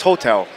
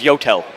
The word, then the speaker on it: Yotel: on 10th and uh 10th and 41st it's pronounced hotel no it's yotel it was the yotel hotel and we actually